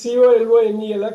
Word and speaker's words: colonel: COLONEL கலோனல் அப்படிலாம் படிச்சிடக்கூடாது.